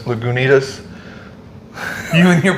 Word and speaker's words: Lagunitas: And then there's a Lagunitas or Lagunas. Lagunitas. You and your pronunciations, man.